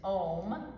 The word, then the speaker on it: Om: But it's 3 syllables, Om. So when you say it as a chant with the B breath idea, it's like this. Om. So it's just sounding those 3 syllables.